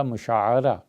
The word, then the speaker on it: مشاعرہ: جس طرح ماہانہ تنخواہ ملتی ہے تو اسے کہتے ہیں مشاہرہ، اسی طرح مشاعرہ عین پہ زبر آتی ہے.